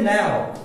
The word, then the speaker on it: know: अब K के बाद N आएगा तो K तो साइलेंट होता है, तो बचा क्या फिर आपका? भाई KNOW है, तो क्या बचा है? अब इट रिमेन साइलेंट, क्योंकि नॉलेज में भी K साइलेंट होता है, तो इसको क्या बोलेंगे? now।